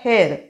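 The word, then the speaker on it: heir: ई आय R spelling त्याच उच्चार हेर मजे वारस वारसदार आपण महतो ना हेयर इला हेयर म केस नहीं आपले हेयर स्पेलिंग केसा वेग है हेयर केस काय है एच ए आई आर मजे केस हे स्पेलिंग केसा हे इला हेयर स्पेलिंग काय एच ई आई आर हेयर मजे वारस स्पेलिंग वेग उच्चार जरी सेम असला तरीही तस मगाशी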